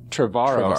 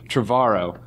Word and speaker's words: Trevorrow: Pronouncing that right? Trevorrow. See, I always like last names to be right, so I'm very picky about that. Trevorrow.